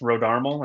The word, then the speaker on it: Rodarmel: time nobody gets it right but yeah it's RH armal and you hit it right that's crazy that